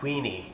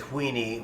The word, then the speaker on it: Weenie: hear me pronounce it Weenie, whereas a lot of people just drop the silent H and call it Weenie, but it's up to you how you want to pronounce it.